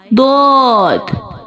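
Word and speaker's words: ضاد: Read it with full sound like dot, dot. Let me show you the origin of dot. Start using edge of tongue touching gums of upper molars.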